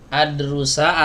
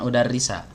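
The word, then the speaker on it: أَدْرُسَ: Adrusa, karena dia mau belajar. Ini kan ada itu ada jadi Nah, Iya. kalau udarrisa mau ngajar ya kan? Iya. Nah, si Marwan ini mau belajar dia. Uridu an adrusa, begitu cara bacanya, bukan udarrisa.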